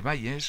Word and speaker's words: Bayes: 2 estamos utilizando el teorema de Bayes o de Bayes, como se pronuncia en inglés, teorema de Bayes.